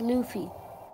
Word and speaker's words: Luffy: Luffy Goofy oh Luffy that's pronounced Luffy um because me and my friends me and my friends always call them lovey what do you mean